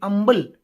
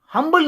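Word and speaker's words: humble: and Amal submission submission H यू एमबी को आप ऐसे प्रोनाउंस करेंगे एच यू एमली अंबल हंबल नहीं या उसको हम अंबल कहते हैं प्रोनाउंस करेंगे इसे अंबल विथ ड्यू रेस्पेक्ट एंड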